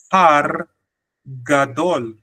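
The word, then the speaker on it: פר גדול: It says here, par gadol. Par gadol. So the R is short in par, but the par is emphasis. Par gadol.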